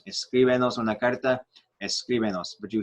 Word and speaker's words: escríbenos: Whatever stressed syllable is in the root verb, that's where it will stay. When you add syllables, you have to put an accent mark though on the letter where that syllable, where the stressed syllable originated.